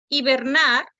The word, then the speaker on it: hibernar: Hibernar, hibernar se acentúa en la última sílaba.